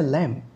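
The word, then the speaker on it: lamb: এই বাচ্চা বেড়ার ইংরেজি হচ্ছে ল্যাম্ব, যেই নামে উইলিয়াম ব্লেকের একটা কবিতা রয়েছে। এই ল্যাম্বে লাস্ট লেটার বি উচ্চারণ করা হবে না।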